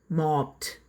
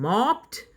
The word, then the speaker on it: mopped: Okay, mopped. Okay, V1 form, base form, mop. V2 form, past form, mopped. V3 form, past participle form, mopped. D അല്ല, T തന്നെയാണ്.